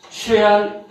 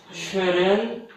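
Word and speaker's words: Søren: 근데 이제 발음이 덴마크어에 따르면 쉐안 키에르케고르, 키에르케고르 이렇게 하는데요. 우리 표준어에 따르면 이렇게 돼 있어요. 쉐렌 키르케고르. 근데 이거는 이제 이 사상을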